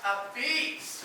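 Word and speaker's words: apizza: It's pronounced A Beats.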